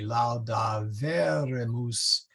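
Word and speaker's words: laudaverimus: one two three so the accent is actually on the e for these guys or well for the for the era moose and the eretis so it should be lao da verre mousse try not to make those long ease try not to say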